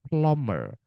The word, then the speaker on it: plumber: Plommer. plomer doubt doubt doubt. Nah, ini teman-teman bom bom climbing climbing. Semua B yang ada di sini tidak dibaca.